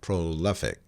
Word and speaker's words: prolific: rad and you see a stretch mark before Li so you are to stressed apart when you pronounce it so it goes like prolific and then you go